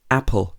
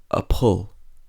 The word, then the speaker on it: apple: be unstressed for example apple has two syllables and we stress the first syllable so we say Apple we don't say appalled banana has three syllables